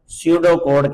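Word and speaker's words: pseudocode: सडो कोड कहते हैं। इसमें ये पी साइलेंट है।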